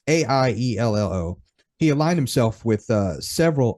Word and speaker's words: Aiello: And Aliello, I hope I'm pronouncing the name right. Alio, it's Aiello.